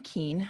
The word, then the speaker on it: Kuehn: my name is keane uh the last name looks like it's not pronounced keen i don't know what